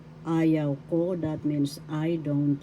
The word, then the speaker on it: ayaw ko: Ayaw ko. Ayaw ko, that means I don't like. First syllable second syllable yaw, third syllable ko. Ayaw ko. first syllable has the accent and the third syllable.